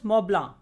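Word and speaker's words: Mont Blanc: notice that there is a peak called mount blank and in french it is pronounced as moblang and it lies between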